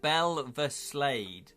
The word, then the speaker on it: Belveslade: Julian's, but we can make money, but it's pronounced Belveslade. Oh, okay, Belveslade.